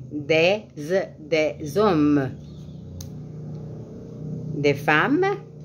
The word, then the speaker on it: des hommes: ici vous dites des des hommes vous ne prononce prononcez pas le S à la fin mais vous prononcez le S après des des des hommes des femmes s à